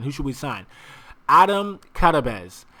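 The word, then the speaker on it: Karabec: Adam Karabez. I know it says Karabek, but it's actually Karabez.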